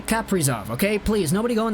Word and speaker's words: Kaprizov: They say it like Kaprizov. Like there's a little break there between the P and the Prizov. Because, I don't know, pronunciation is weird. I'm just gonna say Kaprizov, okay?